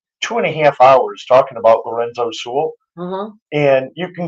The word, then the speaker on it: Sewell: Lorenzo Sewell, how do you pronounce that? The pastor, Lorenzo Yes, Sewell.